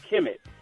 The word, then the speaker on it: Kemet: talk about is also Kim it and and that's spelled kmt Kim it was actually ancient Egypt